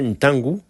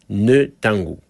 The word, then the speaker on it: Ntangu: Par expérience, je sais que les Européens ont souvent du mal à prononcer la lettre N devant nos noms africains. Par exemple, mon frangin Ntangu se faisait appeler Netangu.